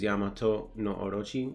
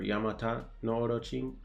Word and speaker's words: Yamata no Orochi: in my opinion is Yamato no orochi I don't know why they spelled his name wrong or Yamata no Orochi yeah it's just spelled it wrong either way based on